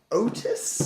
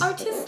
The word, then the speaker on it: Otys: So next up, I have, I think it's pronounced Otys. Otys, like the name? Like an Otys is a name.